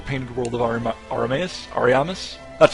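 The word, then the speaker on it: Ariamis: places like the painted world of AR arus Aramis that's how it's pronounced Aramis that are separate levels and they're a good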